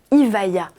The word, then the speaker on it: Evija: La rumeur disait vrai, le bolide, qui sera officiellement présenté le 16 juillet, se nommera Evija, prononcé Evija.